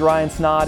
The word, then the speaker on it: Snaadt: My name's Ryan Snaadt, it rhymes with odd, and we're out.